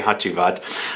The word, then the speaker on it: Hacivat: I should say HACIVAT. It's actually HACIVAT. I grew up with Turkish grandparents, so I think that's how you say it in Turkish.